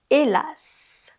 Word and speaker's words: hélas: Le premier mot, c'est hélas. Hélas. Pour une fois, tu dois prononcer le S à la fin.